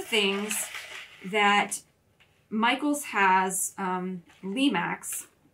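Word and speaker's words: Lemax: that Michael's has um Lee Max that's how you say it uh where they do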